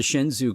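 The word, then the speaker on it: Shenzhou: when we write OU so in Japanese all vowels are pronounced so it's not like in English where you have two vowels together and they they form some other sound you actually pronounce them so if this were Japanese this ouu would be pronounced o o you would have to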